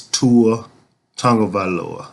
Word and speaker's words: Tagovailoa: See, Alabama fans, y'all don't even know how to pronounce the man's name. It's Tua Tagovailoa.